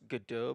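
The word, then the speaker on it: Godot: use of my resources it's pronounced gdau by the way named after a play oh that is definitely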